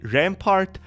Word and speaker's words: Rampart: best he told me Rampart rhymes with fart I'm going to for